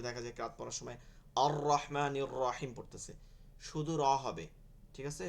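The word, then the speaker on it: الرحمن الرحيم: এগুলো পড়া যাবে না মানে হচ্ছে র এর মধ্যে কোন ভাইব্রেশন আসবে না আর রহমানির রাহিম এটা কিন্তু আসবে না কোনভাবে অনেকেই পড়ে ঠিক আছে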